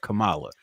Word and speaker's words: Kamala: But Kamala, yes, her name is Kamala correctly.